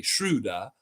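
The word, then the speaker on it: Schröder: that not only are the Raptor freaks saying my name correctly shruta uh they're spelling it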